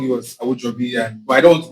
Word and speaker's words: Awojobi: My surname is Awojobi. That's the correct pronunciation.